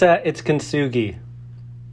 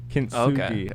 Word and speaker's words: Kintsugi: I don't want to pronounce it wrong. It's Kintsugi. Kintsugi.